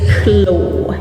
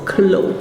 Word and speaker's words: clos: Next one is clo. It's written with s in the end but the French pronounce it without the s. So clo.